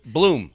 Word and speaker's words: Blum: That sounds very spelled blu m. It was funny. Blum. Yeah, that's what I thought. Bloom. Yeah. Phonetically it would be blum, but sure.